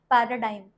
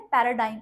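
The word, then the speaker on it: paradigm: पैराडाइम हम ये silent है पैराडाइम इसे पढ़ते हैं।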